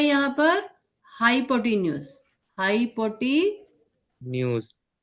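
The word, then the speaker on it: hypotenuse: हाइपोटेनियस नहीं, हाइपोटेन्यूज. हाइपोटेन्यूज. हाइपोटेनियस. हाइपोटेन्यूज. ठीक है, तो AC क्या है यहाँ पर? AC इसका क्या है? Sorry, CL. CL क्या है यहाँ पर? हाइपोटेन्यूज.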